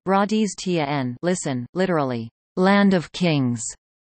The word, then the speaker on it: Rajasthan: Rajasthan, Hindustani pronunciation, Radiz Tn, listen, literally, land of kings, is a state in northern India.